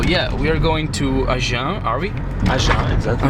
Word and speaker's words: Agen: So yeah, we are going to Agen, are we? Agen, exactly. Agen.